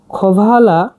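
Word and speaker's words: hvala: হচ্ছে খবালা খবালা ভাম এটা এইসটা খ উচ্চারণ হবে ভালা খবালা ভাম খবালা ভাম ধন্যবাদ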